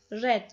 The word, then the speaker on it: read: Yani read fiili ikinci halinde yazılışında bir değişiklik olmadığı halde okunuşu değişiyordu. Read red olarak okunuyordu.